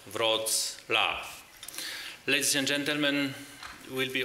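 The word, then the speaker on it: Wrocław: know and remember I'm the city mayor of RAV using the English proper pronunciation the city name is to be said V laugh ladies and gentlemen we'll be opening now the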